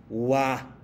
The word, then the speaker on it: は: Y luego viene wa. Escribimos ha, pero pronunciación cambiaría wa porque están funcionando como partículas que están acompañando sujetos.